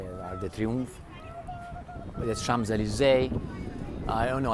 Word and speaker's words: Arc de Triomphe: That's the Arc of Triumph. I know how you say it. Arc de Triomphe.